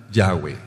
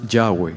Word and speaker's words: Yahweh: Entonces el nombre se pronuncia Yahweh. The name is pronounced Yahweh.